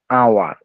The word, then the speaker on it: hour: উত্তরাধিকারী, HONOR, অনার, HOUR, আওয়ার, এখানে কিন্তু হাওয়ার বলছি না, হেয়ার বলছি না, হনার বলতেছি না, আমরা কিন্তু বলতেছি অনার।